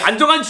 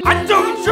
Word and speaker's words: 안정환: 예 를 들어 , " 안정환 " 인데 " 안정추 " 라고 말 하면 안 됩니다 .